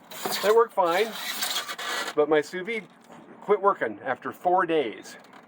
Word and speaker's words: sous-vide: souvenir so we're this i found out it's pronounced sous-vide that was pronounced in souve but apparently it's sous-vide so so if i mispronounced it here and